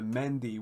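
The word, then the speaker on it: mehndi: have one day called we pronounce it the mendy where essentially uh me h ndi uh which is going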